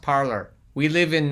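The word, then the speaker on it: Parler: monopolists took down parlor i know it should be pronounced parley but it's pronounced parlor we live in not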